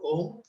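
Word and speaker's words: ॐ: Second meditation is Nad Anusandhan, where we do the chanting of Om. So Om is made up of 3 syllables, where A, U and Ma.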